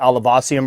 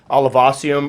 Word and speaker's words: olivaceum: All right, so we're about to rehouse my Chaetopelma olivaceum or olivaceum. I've heard it pronounced several different ways, but that's what I'm going with.